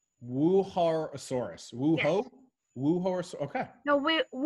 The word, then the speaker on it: Wuerhosaurus: I don't know the answer to the second question, but the first, the name, you pronounce it Wuerhosaurus. Wuerhosaurus.